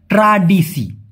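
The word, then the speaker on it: tradisi: ওটাকে বলা হয় ট্রাডিসি। ট্রেডিশনাল বা ঐতিহ্যকে মালয়েশিয়ান ভাষায় কি বলে? ট্রাডিসি। ট্রাডিসি। এখন এ হবে না। মূলত হবে স। কারণ এসকে ওরা সবসময় স এর মত উচ্চারণ করে।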